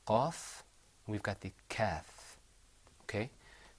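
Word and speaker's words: كاف: We've got the qaf and we've got the kaf. Okay? When you pronounce the kaf, you pull the corners of your mouth back. You go like this. Kaf.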